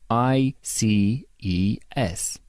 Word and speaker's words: ICES: Ontario Isis slip cut it's pronounced I see e s thank God while traveling